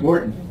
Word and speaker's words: Wharton: How do you pronounce it? Wharton. Wharton.